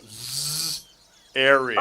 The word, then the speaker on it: Zariel: So the person I'm going to see, their name starts with a Z and rhymes with Ariel. Yeah. So Z, Ariel.